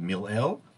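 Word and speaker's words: מלעיל: One is called mil'el, where you put the emphasis on the first syllable or the early syllable, and milra, which is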